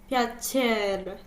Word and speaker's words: piacere: Piacere. Yes. So the CER again, ch.